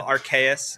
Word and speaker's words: Archaius: Yeah, no, Archaeus. It's a Latin word, which is super fun to try to pronunciate.